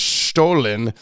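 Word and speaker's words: Stollen: year sweet sweet stolen bread FYI it's actually pronounced stolen as the episode goes on we realize that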